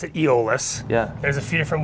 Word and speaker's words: Eolus: how do you pronounce it we we we pronounced an egoless yeah there's a few different ways to present people say hey you have people from Silverton usually pronounce it ALS yeah who we named us after Mountie almost